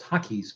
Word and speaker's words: Takis: really really good so it's called Takis because it is like taquitos some Takis that's how you pronounce that I want to say